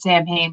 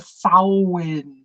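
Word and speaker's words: Samhain: Sam Hayne and you'll still hear people who pronounce it champagne but it's a sowin yes Ireland is the right answer now what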